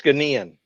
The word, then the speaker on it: Ghanaian: G H A N A I A N. Ganian. Ghanian. Ganian. Like Hawaiian. Okay. It's Ganian.